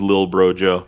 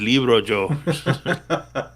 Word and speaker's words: Lil Bro Joe: No, you're right. It is Lil Bro Joe. It's something Joe. All this time I was like saying your name wrong. I thought it was Libro Joe.